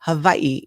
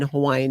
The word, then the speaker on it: Hawaii: It's just, even when I lived there back in my day, we still just called it Hawaii, but Hawaii, the W in Hawaiian is with a V.